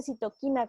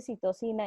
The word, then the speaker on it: citocinas: citocinas aquí están vean dice citoquinas como español de españa pero bueno se dice citosina en español latino las citocinas tienen otra